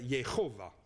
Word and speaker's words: Yehovah: Et là, c'est écrit, si vous le prononcez comme il faut, ça ferait Yehovah, avec une gutturale.